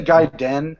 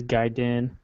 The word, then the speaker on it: Gaiden: hardest do people say guy Dan instead of gaiden I always heard date and I was a kid but I think it is guide in yeah three pronounced multiple ways it means side story